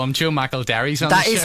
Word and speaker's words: McElderry: Joe McElderry's on the show this morning, ladies and gentlemen. More from him very, very shortly. It's 9:27. McElderry, or some people from this neck of the